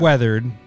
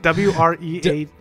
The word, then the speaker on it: wreathed: weathered. Vine or fine? Vine. V-I-N-E. Vine weathered. Not it's weathered, W-R-E-A-T-H-E-E-D, weathered, weathered. Spell it God out damn. Again. W-R-E-A-T-H-E-D. Wreathed.